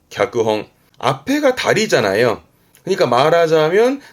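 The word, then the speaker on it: 脚本: 발음은 갸끄홍. 갸끄홍.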